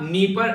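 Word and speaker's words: Dnieper: कहां पर है अगर कोई पूछे आप लोगों से तो याद रखिएगा नीपर रिवर यहां पर, जिसको डी साइलेंट होगा नीपर रिवर आप लोग इसको बोलेगा।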